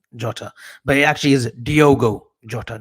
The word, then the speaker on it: Diogo: talking about you now you say Diego I say Diogo listen folks Minecraft avi's